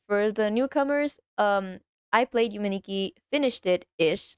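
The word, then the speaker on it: Yume 2kki: See, I actually I was reading like the name wrong because I realized that two in Japanese is ni. So it would still be Yume Nikki, but the two is like the second version.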